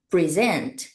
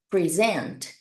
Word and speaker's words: present: Então, neste caso, nós vamos ler essa palavra, nós vamos pronunciar essa palavra como Present, present.